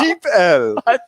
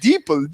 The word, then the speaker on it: DeepL: Is that how that's pronounced? Yeah, Deep L. I thought so. That makes more sense. I was saying deeple this, deeple that.